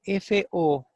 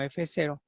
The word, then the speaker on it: FO: Se llama FO y no F0 porque esta proteína tiene un inhibidor que corresponde a la oligomicina. Y como oligomicina pues se escribe con O, por eso se le llamó FO.